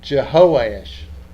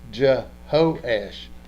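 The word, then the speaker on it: Jehoash: you pronounce that josh i would pronounce it based on the hebrew would jehoesh i would say you know instead of just joe as i'd say je ho ash i would pronounce h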